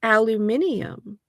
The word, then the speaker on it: aluminium: It in America however the first time I heard someone from uh from was it London it might have been London um say the word they said aluminium and I thought that's